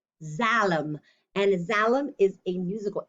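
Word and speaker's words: Xalam: silly word and again this is a funny one that sounds like a z it's actually pronounced zalam zalem and zalam is a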